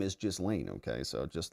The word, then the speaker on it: Ghislaine: Now in French, this is normally pronounced Ghislaine. Ghislaine is how it would be said in France. However, in English, pronounced Ghislaine. Ghislaine. Ghislaine is how it would be said in France. However, in English, it is generally said Ghislaine.